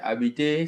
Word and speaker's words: habiter: So, if I say j'habite à, you see that the habiter starts with a silent H.